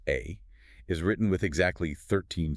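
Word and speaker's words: 愛: In Japanese, the kanji character for love, which is pronounced A, is written with exactly 13 strokes.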